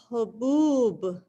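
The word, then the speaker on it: هبوب: Haboob. Very good. Haboob. Now, please notice the way she pronounced it, ha, ho, and this ba, hubub.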